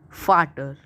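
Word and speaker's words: Vater: te r is father in German and it's pronunciation is fatter fatter OPA is grandfather in German and it's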